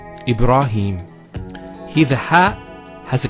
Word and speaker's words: Ibrahim: Next word, Ibrahim. So here, ra. Notice here the ra, fatha, followed by the alif. Once again, it's a long vowel. Ibra, not ibra, ibra. Ibra, and then him, Ibrahim.